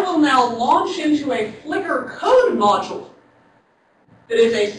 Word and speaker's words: Flicker: this is something called Flicker and I have misspelled it I always misspell it it is flicker with an E not without an e I'm sorry this is